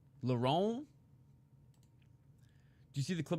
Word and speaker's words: Lauren: I've been calling him Lauren Murphy for ages. Didn't know I was saying it wrong. Lauron, did you see the clip of that guy on drugs at the sphere?